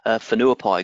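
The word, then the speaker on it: Whenuapai: a bit bit of a difficult thing to pronounce Fonua pie good which means good grand and so that's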